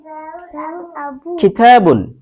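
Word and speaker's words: كِتَاب: কিতাবুন, এই যে কিতাবুনটাকে আমরা কাফটাকে একটু খয়ের মতো করে উচ্চারণ করছি।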